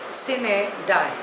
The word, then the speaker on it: sine die: The next word is sine die. Spelling is S-I-N-E-D-I-E. Pronunciation is sine die. It is a Latin word.